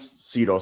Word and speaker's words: Cyro: No, my name's Sido so like Sido like everyone butchers it.